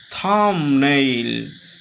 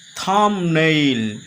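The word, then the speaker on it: thumbnail: এখানে বি এর উচ্চারণ অদৌ হবে না। কষনো হবে না। থামনেইল। থামনেইল।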